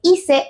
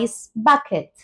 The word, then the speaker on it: ice bucket: I Bucket no Bucket esta u pasaría a sonar como una a y quitamos la c simplemente para evitar confusión así que sería Ice Bucket Ice Bucket icea vamos